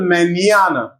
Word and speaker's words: mañana: In these words, N is pronounced near. N sound and also ye with it added. For example, mañana. Mañana.